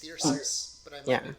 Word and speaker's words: Thyrsus: I was pronouncing it Thyrus. Yeah, I believe it's Thyrsus, but I might Yeah.